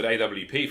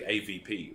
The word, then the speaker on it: AWP: first used to commentate the Swedes and the Nordics would say AVP right because the way they pronounce W and they would get